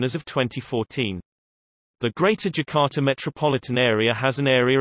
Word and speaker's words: Jakarta: Jakarta, Indonesian pronunciation, Dakarta, officially the special capital region of Jakarta, Indonesian, Daerah Khusus Ibu Kota Jakarta, is the capital and largest city of Indonesia.